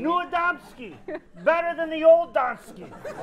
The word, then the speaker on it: Niewiadomski: Niewiadomski. Niewiadomski.